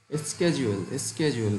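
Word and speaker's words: schedule: দুটোই সঠিক, মেবি একটা ইউএসএ একটা ইউকে, একভাবে উচ্চারণটা হয়। জি, স্কেজুয়েল বলে অনেকে, তো স্কেজুয়েলটা বলতে পারেন বা শিডিউল যেটাই বলেন।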